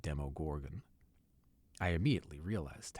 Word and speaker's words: Demogorgon: that I'd been pronouncing demo gorgon's name wrong I'd been saying demo Gorgon instead of demo Gorgan I immediately realized how